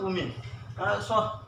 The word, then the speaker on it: women: woman ok but this is plural lots of women so women the right pronunciation is women lots of women are joining